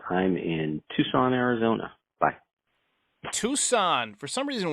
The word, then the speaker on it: Tucson: Tucson for some reason whenever I read Tucson like the word written out I always pronounce it Tuscan even though I always I know how it's you know what it's supposed to it's just weird um I've